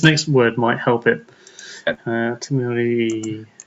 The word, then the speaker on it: Timur: It's actually pronounced Timur pepper.